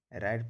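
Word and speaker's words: write: आर आई टी ई, राइट पढ़ेंगे, डब्लू को नहीं पढ़ेंगे।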